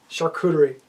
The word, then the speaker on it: charcuterie: Charcuterie. Not even spelled with shark. S-H-A, no, C-H-E, nonsense. Nonsense.